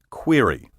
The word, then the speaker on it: query: Until quite recently, however, dictionaries gave only one pronunciation, which I recommend as preferable: query.